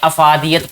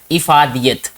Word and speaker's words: افادیت: ہونا، ٹھیک ہے۔ افادیت، اس کو ہمیشہ آپ نے سنا ہوگا کہ افادیت پڑھا جاتا ہے، لیکن یہ صحیح جو اس کا تلفظ ہے وہ ہے افادیت۔ موضوع کہتے ہیں عنوان